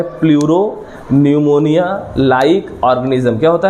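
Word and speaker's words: pneumonia: निमोनिया। निमोनिया का उच्चारण न से है। लेकिन उसको लिखते हैं पी एन यू ओ एम ओ एन आई ए।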